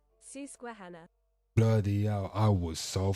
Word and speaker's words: Susquehanna: Let's go to our goddamn Google, because I want to know how you pronounce this shit right here. So Susquehanna. Susquehanna.